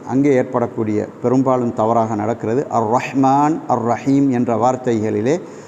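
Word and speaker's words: الرحمن الرحيم: ஏற்படக்கூடிய பெரும்பாலும் தவறாக நடக்கிறது அர்ரஹ்மான் அர்ரஹீம் என்ற வார்த்தைகளிலே சிலர் வந்து அர்ரஹ்மானிர் ரஹீம் என்று அந்த ஹாவை உச்சரிக்காமல் சொல்வார்கள் எனவே அதை நாங்கள் திருத்திக் கொள்ள வேண்டும் அர்ரஹ்மான் அர்ரஹீம் அர்ரஹ்மானிர் ரஹீம் என்று ஹாவை நாங்கள் சரியாக உச்சரிக்க வேண்டும் இல்லாவிட்டால் சில வேளை அர்த்தம்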